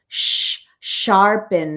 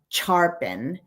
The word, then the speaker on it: sharpen: And I remember through laughter, she said, "It's sharpen, not charpen."